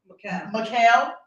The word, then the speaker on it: Mikhail: How do you pronounce his middle name? Mikhail.